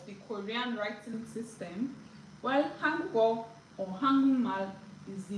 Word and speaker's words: Hangul: Hangul, not hangul. Hangul. Yes. Angle. Han, not an.